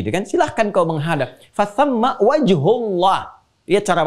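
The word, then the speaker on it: فثم وجه الله: Fathamma wajhullah. Lihat cara bacanya. Perhatikan betul cara baca, lihat harakatnya. Bukan fathamma wajhallah, tapi fathamma wajhullah.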